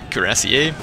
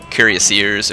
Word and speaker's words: cuirassier: I say cuirassier because that's kind of the French way of saying it, but that word itself isn't necessarily French. So, you know, there's a number of different ways to say it, which are acceptable. Some people say cuirassiers or something similar to that, and it's perfectly fine to say that as well.